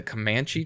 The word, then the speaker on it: Comanche: And it's set with this, I want to pronounce this correctly, the Comanche tribe? I believe that's how it's pronounced. Yes, Comanche.